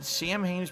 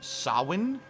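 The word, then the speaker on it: Samhain: ridiculous man angel investigation sam haynes pronounced sawin it is the 31st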